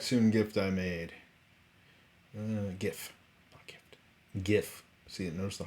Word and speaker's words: GIF: little be back soon gift i made uh gif gif see you notice the hard g like